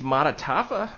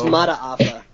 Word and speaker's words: Mataafa: That Hercules Matatafa towards ACL. Is that the right pronunciation? I'm hoping so. I think it's Mataafa. Nope. Yeah, there's an extra T in there.